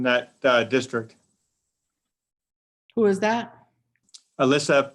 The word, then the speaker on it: Aylissa: And also her first name is spelled AYLISSA. So it's like Alyssa.